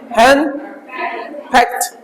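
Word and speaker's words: henpecked: है आपका hand फैक्ट hand फैक्ट इसको ड नहीं पढ़ेंगे हैंड फैक्ट हल्का ट लेके जाएंगे हैं फैक्ट हैं फैक्ट हैं फक्क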